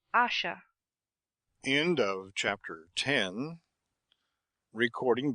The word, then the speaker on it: Asher: Please pronounce Asha.